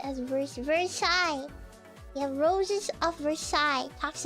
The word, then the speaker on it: Versailles: Versailles is pronounced as Vers Versailles.